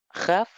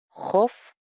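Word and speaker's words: חָפְשִׁי: Por lo tanto, ahí no es haf, sino hof, shi.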